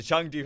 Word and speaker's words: Chengdu: missing it's yellow and it rhymes with swung through punters yeah that's right there's the Chengdu hunters and I will likely